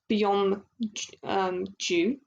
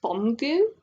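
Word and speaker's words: 범규: know I'm so like used to saying Byom Ju, but it's actually, I think it's pronounced Bomgu.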